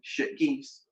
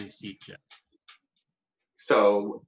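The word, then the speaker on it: Sitges: Shit geese? He tried to distract me by mispronouncing Sitja. So I say, yeah, that's why I said shit geese.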